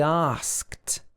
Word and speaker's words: asked: Okay, and the D, the ED at the end of this word is pronounced t. It's not pronounced d.